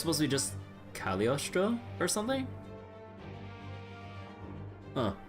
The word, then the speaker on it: Cagliostro: Technically not supposed to pronounce the G. Really? Huh. I am fire. I am a blade. I am fire. I am a vortex. So it's supposed to be just Cagliostro or something?